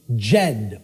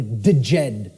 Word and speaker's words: Djed: See, this is an initiate inside what was known as the Jed or the Djed pillars, depending on how certain people pronounce it.